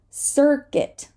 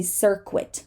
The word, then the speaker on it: circuit: Circuit. We're not going to say circuit. No, circuit.